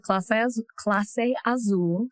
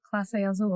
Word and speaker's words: Clase Azul: First we had Clase Azul. Clase? Mm-hmm. I thought it was Casa. How you say it? Clase Azul. It's Clase Azul?